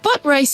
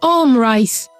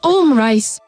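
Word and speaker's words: omurice: that's a recurring thing it's not butt rice it's m rice oh SP but rice there he is there he is in the thread butt rice he insists it's pronounced om rice but uh it looks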